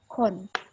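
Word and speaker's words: คน: Kalau ada dua konsonan tanpa vokal, ataupun nggak ada apa-apa, dia cuma konsonan seperti ini, itu udah pasti di tengah-tengahnya kita bunyikan suara O. Jadi ini dibaca apa? Ini adalah huruf K, ini huruf N. Betul. Ini huruf O. Kon.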